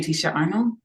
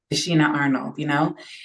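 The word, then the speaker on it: Tichina Arnold: Sorry, how do you say Tisha Arnold? I'm gonna say her Tashina. name. Tashina Arnold, and that was a common thing with these shows.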